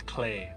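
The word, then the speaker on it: Klee: Cle means clover in German. Oh nice. Oh, that's cool. And it's pronounced as clay.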